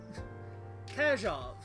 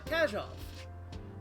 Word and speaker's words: Kajov: So I need to internalize Kajov. Is that how you want that pronounced? Yes. Alright, Kajov.